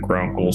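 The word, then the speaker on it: Vgrunkael: i am in fact grunkle spelled v g-r-u-n-k-a-e-l the v is silent apparently i hear or don't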